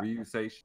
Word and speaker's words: Ryuseishun: That's how you pronounce it, right? Yeah. Ryuseishun.